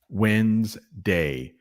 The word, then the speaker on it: Wednesday: Why is there a D there? I don't know, but there is. Wednesday.